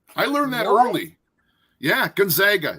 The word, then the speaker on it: Gonzaga: but I must say it when Eric said Gonzaga I learned last year that that is the correct pronunciation I learned that early I learned that early yeah Gonzaga it's always Gonzaga actually though I think it's